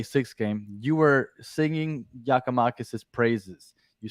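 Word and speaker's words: Giakoumakis: I forget how to even pronounce his name. Giacomakis.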